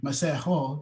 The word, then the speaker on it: Masego: Well, sorry, Masego is actually how you say it, but Really? yeah, it's South African.